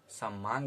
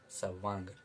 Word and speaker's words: सवांग: अक्सर लोग इसका गलत उच्चारण समांग भी बोल देते हैं, जो कि सही नहीं है। इसका सही उच्चारण है सवांग।